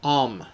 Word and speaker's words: Om: Now, let's take a look about the Hindu symbol Om, pronounced Om. Okay, it is composed of three sounds: A, U, M, and the symbol's threefold nature is central to its meaning.